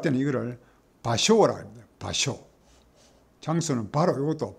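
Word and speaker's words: 場所: 그 다음에 쇼라고 읽기도 하고 조라고 읽기도 합니다. 이 소는 장소 소자입니다. 장소를 할 때는 이거를 바쇼라 합니다.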